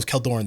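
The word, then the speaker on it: Kjeldoran: kajoran Frost Beast okay how you pronounce that keldor oh keldorin the J silent okay killed Lauren Goat Mountain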